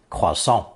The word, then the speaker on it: croissant: that flaky and buttery horn-shaped roll it's properly pronounced croissant the expression kojo meaning an argument or quarrel